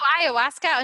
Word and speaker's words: ayahuasca: Well, this plant how is it pronounced? Ayusaka or what's? Oh, ayahuasca.